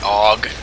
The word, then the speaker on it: AUG: obviously blatantly wrong then with guns like this uh the AUG or Aug depending on what you want to say what's the point of